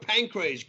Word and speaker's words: Pancrase: And you pronounce the word pancrase good. Like everybody, they call it like the pancreas or something.